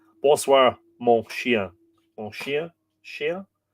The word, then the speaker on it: chien: You don't say the N at the end of that, do you? Chien? Let's hear that. Mon chien. Mon chien. Chien. Bonsoir, mon chien. Bonsoir, mon chien. Lightly, says Miriam. So you do pronounce it, but lightly. Exactly. It kind of goes up your nose.